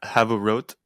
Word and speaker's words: havurot: In the plural, you get rid of the last AH and replace it with an OT. Havurot.